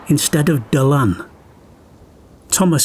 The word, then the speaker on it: Dylan: land's most famous Sun his name is often mispronounced as Dylan instead of dalan Thomas said that when he first left Wales